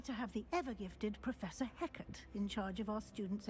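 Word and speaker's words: Hecat: Fortunately, we are lucky to have the ever-gifted Professor Heckert in charge of our students' education in that regard. I read it as he cat. Okay, thank God she pronounced it.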